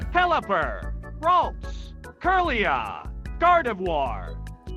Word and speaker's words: Gardevoir: Lotad, Lombre, Luna, Colo, Sea Dot, Nauseleaf, Shiftree, Taylor, Swellow, Two, Helipper, Ralts, Curia, Gardevoir, Gardivoir. I've probably been saying that wrong.